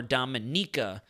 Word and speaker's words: Dominica: mark it's more emphasized NAA Dominica not Dominica I put a little more emphasis in the beginning it's more dominika am I saying it